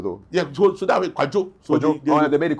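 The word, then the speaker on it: Kwadwo: Yeah, so that way Kwajo. So they made it Kujo because Kujo. of the every pronunciation.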